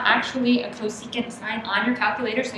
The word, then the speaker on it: cosecant: and it's just c s c and it's pronounced cosecant okay um this is not on the calculator